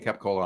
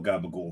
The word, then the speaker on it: capicola: The one with the capicola on it is actually very good. Yeah, and it's not insanely good. It's pretty good. But if you're from this area and go out there, don't call gabagool.